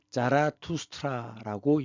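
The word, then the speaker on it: Zoroaster: 쪼로아스터. 조로아스터. 이것이 이제 그 독일식 발음으로는 자라투스트라고 얘기합니다.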